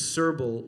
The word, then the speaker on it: Srbulj: no money that's the my last name is cerbal which in slovenian means illiterate it doesn't mean